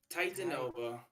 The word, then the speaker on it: Titanova: pronounce it tata nova titanova it's like it's like um the titan and then nope and then like a supernova supernova yeah yup that's